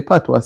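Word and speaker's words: patois: Because the way PWA spell it don't spell like how we say PWA. It's P A T O I S and you don't hear any S in it. You hear Pat, you know.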